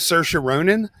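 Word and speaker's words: Saoirse Ronan: It was a Mike Mills directed video and so her name's Cersa Ronin but it's spelled Seor Ronin that might you know help some so she actually started in the video and they uh just released it.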